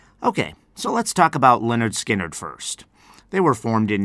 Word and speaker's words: Lynyrd Skynyrd: be doing this week is called Freebird from Leonard skinnard they spell that a little bit weirdly if you want to look up the band name Leonard skinnard it is spelled SP l y n y